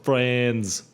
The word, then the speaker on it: Franz: No, it's Franz. With a Z Franz. like France.